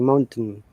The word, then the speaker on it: mountain: I realize that you're trying to pronounce the mountain in glottality, mountain. Okay, it can be done either way without the using the glottality. The T, sometimes mountain, button. Okay.